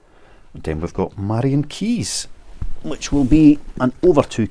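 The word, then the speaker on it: Keyes: £484 for five Maran key books Maran keys not key keys keys and another a bit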